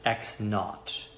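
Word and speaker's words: x naught: So that is their position at time equals 0 seconds is called x sub0 or it's pronounced x knot.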